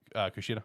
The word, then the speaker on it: Kushida: had this competition set up between Harika and Kushida, or how you pronounce her name. No, you said it. Kushida?